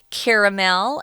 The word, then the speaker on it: caramel: been browned until it turns into caramel or caramel as some people pronounce it um and cinnamon is